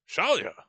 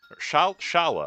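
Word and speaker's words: Schala: Shalia? Shala. I think I'm putting a phantom syllable in there.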